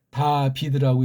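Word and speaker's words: דָּוִד: 이게 이제 다비드라고 읽어요. 여기 모음 체계가 이렇게 다비드라고 해요.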